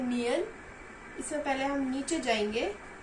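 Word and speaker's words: 니은: कियोक को हम क या ग की तरह प्रोनाउंस करेंगे। नियन को हम न की तरह प्रोनाउंस करेंगे और दिग्गत को द की तरह।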